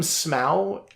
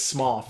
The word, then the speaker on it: Smough: That's I call him Smough, and somebody corrected me and said it's Smough, and I went, oh well, it's spelled Ough.